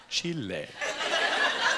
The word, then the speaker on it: Chile: my wife and I went to Chile which I Now Pronounce Chile that's how they say it but I was telling